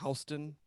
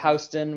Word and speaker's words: Houston: Side, you have like Houston, or they say Houston. yeah, Houston, which I always thought was weird.